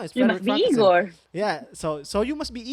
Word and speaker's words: Igor: Like, it's Igor. It's pronounced Igor. I thought it was Igor.